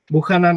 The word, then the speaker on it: Buchanan: guest today is Bucky Nicolas bukhanan I hope you'll pronounced your name well yes you did it's Nicholas Buchanan that's correct perfect perfect and I